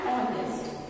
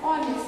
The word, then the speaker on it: honest: But we are not writing, we are writing an honest. And honest. Why? Because H is silent here, okay?